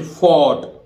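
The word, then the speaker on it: fought: में होगा, जैसे फोर्ट, एफ ओ यू जी एच टी। अब देखिए ध्यान रखना ओ यू जी एच टी, इसका मतलब यहां दोनों जी एच ही साइलेंट, दोनों गए भाई फोर्ट, ठीक है। अब इस उदाहरण में तो दोनों ही जी एच ही साइलेंट हो गया, फोर्ट एफ ओ, ठीक है, यू फोर्ट ना डायरेक्ट जी एच साइलेंट है, तो फोर्ट, फोर्ट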